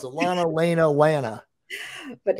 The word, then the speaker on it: Lana: lena lana you're right see i can't even pronounce it lana elena lana but it's lana anyway sorry about that so